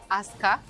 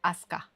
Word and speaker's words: Aska: Well, it's just Aska. In Serbian language, we read names and words generally. We pronounce them phonetically the same the way that we call the letters.